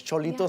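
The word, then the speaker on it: Xolito: El Cholito is TJ style, and it's Cholito spelled with an X, Of course.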